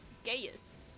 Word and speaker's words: Gaius: Gay ass. Gaius. That's how you say it.